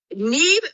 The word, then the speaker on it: Niamh: It is pronounced Niamh, correct? Absolutely. Perfectly done. Yes, it's a Gaelic word. So NH in Irish makes a kind of DS sound.